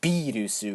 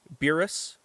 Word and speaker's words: Beerus: So the correct pronunciation for someone in America or in English would be Beerus, or if you want to be awesome and call it Birus or Birusu-sama, whatever works.